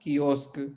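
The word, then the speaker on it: quiosque: की से शब्द बना कीवी, किएतु, और क से शब्द बना कियोस्क।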